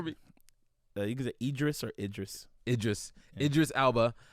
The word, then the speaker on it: Idris: netflix series i want interest alba is that that's that's why you say his name right interest idris idris sorry it just alba i'm